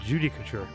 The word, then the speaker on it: judicature: how to pronounce it judicature yeah all right judy couture thank you see that's how you pronounce it well you still think